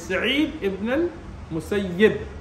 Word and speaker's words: Sa'id ibn al-Musayyib: But the actual correct pronunciation is Sa'id ibn al-Musayyib with a kasra on the ya.